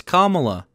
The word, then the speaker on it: Kamala: who is the deciding why do they always say her name wrong it's kamala i don't even like